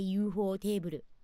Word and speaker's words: ufotable: I guess you just had to say ufotable. If you really want to say it like how it is officially.